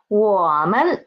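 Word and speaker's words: 我们: to guess how to say we it is woman woman so we can see here man is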